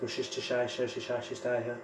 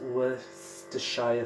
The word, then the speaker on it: Worcestershire: It's so difficult to pronounce. Worcestershire. It's Worcestershire sauce.